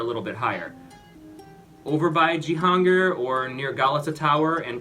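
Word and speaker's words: Cihangir: i would recommend probably jihanger which starts with the c because the c is pronounced like a j in turkish so c-i-g-a-n c-i-a-n-g-i-r something like that g-hunger it's kind of below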